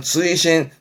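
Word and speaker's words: 追伸: 발음은 쯔이신, 편지 같은 거에 그 맨 끝에 추가로 덧붙이는 말을 추신하죠? 그걸 쯔이신, 이 한자입니다. 앞에 글자는 그렇죠.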